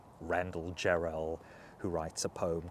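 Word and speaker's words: Jarrell: this one is from Randall Geral whose name in fact rhymes with well Randall gerell who writes a poem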